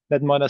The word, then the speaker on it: Knetminer: NetMiner stands for knowledge network miner with a silent K.